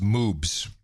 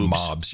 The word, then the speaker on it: moobs: By the way, it's pronounced moobs. Not mobs.